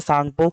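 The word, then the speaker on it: Tsangpo: Gas silent होता है सांगपो।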